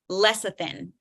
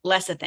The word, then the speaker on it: lecithin: Lecithin. That's how you pronounce it. That's how you say that word out loud. Lecithin.